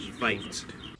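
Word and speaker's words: wyd: The best theory we have for that is the Afrikaans word for wide is pronounced vite.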